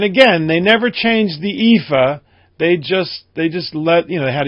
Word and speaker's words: EAFE: And the other one, the MSCI EAFE, and that's how it's pronounced, by the way, EAFE, stands for Europe, Australia, and the Far East.